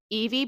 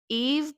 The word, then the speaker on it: Eve: Eve Brown. I I feel like it's spelt like Eve, but the other Brown sisters have a sounding E at the end, like Chloe, Danny, so EV Brown, right?